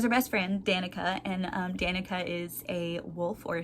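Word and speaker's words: Danika: has a best friend Danica or Donita I've heard it pronounced both ways I'm not really sure I say Danica in my head so that's what I'll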